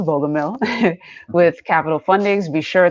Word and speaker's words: Bogumil: That is how it's pronounced, Bogumil, with Capital Fundings.